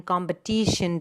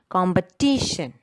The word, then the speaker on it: competition: It comes on the syllable before TION. Okay, so attention, the stress is given on the second syllable. Attention, competition. See, the shen is not stressed. It is the syllable right before the last syllable.